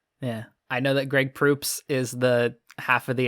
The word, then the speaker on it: Proops: Greg Proops is how you say it? Proops.